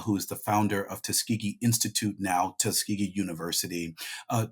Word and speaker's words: Tuskegee: And you and you but you chose to start in Tuskegee. Is that am I saying it right? That's right. Tuskegee.